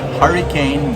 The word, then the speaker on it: Hurricane: too I'm at Costa in the town spelled hurricane but pronounced Hurrican that's what the locals told me